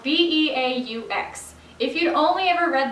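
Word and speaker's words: beaux: If you'd only ever read this word, you might think it's pronounced bukes. Actually, it's not. It's a French word that is now common in the English language and is pronounced beau.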